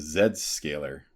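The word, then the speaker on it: Zscaler: Where You Are also Z scaler is known as Zed scaler Zed scaler yep that's true all why do they pronounce the Z as a zed that makes no sense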